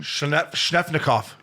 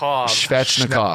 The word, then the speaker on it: Svechnikov: Shnefnikov. That wasn't it either. Princey, how do you say it? Svechnikov.